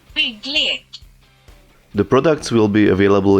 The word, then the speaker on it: BYGGLEK: About the name, according to Google Translate it means constructions game, but I cannot even get close to the original pronunciation, which is supposed to be something like this. BYGGLEK.